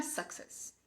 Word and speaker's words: success: Não é success. E sim, success. Success. Com a segunda parte mais forte.